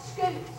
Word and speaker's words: scutes: These plates are called scutes. Everybody say scutes. Scutes. Yeah, that makes you want to say scoot over. Scoot. Right? But it's spelled a little different than that.